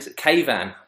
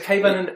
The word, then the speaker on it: Keyvan: Is Keyvan a common Iranian name? Yeah, it's a common, like, it's spelled in Spain. Like it sounds like Taiwan or something like that.